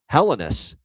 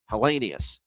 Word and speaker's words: Helenius: We had constants pronounced this way. Helenus is apparently the way. Now, I can't figure this out, man. I really can't. We got the guy in LA. I've always known it to be when it's spelled H E L E N I U S. I've always known that to be Helenius.